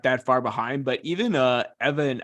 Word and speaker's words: Ewan: Erliden not that far behind, but even Evan, I want to say it's Evan, is pronounced, or it's spelled EWAN, but I'm Evan, Cristobal son.